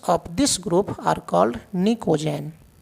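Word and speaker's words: pnictogen: Elements of this group are called निकोजेन। देखो PNiCOGN निकोजेन, P silent है, निकोजेन कहते हैं, ठीक है।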